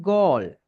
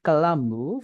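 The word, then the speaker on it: Galle: Where I from, அதுக்கு என்ன சொல்லுங்க, ஐ am from கால். Okay, நம்ம என்ன காலி, தமிழ்ல காலின்னு சொல்றத இங்கிலீஷ்ல கால். We have to pronounce this S கால்.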